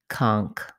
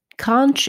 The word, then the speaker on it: conch: it has the same beginning of the word but an enoch sound at the end instead conch conch is more common and conch is less common have a word or